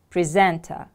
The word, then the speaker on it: presenter: a particular program presenter the stress is on the second syllable presenter repeat after me please